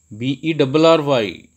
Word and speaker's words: bury: Second one is bury, bury, bury, bury. Oh, but that was wrong. The right one is bury, bury, bury, bury.